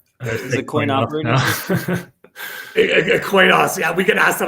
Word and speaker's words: Coinos: you go to by the way, you guys pronounce it Coinos? It's Coinos, right? Is it Coin operating system? Coinos, yeah, we get asked that all the time. It's Coinos, yeah, but say whatever you want.